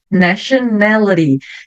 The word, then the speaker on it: nationality: Tem o T-I-O. Eu sempre vou falar sh. Então aqui, shun. Nationality. Nationality, nacionalidade. Nationality. T-I-O fica o som de shun.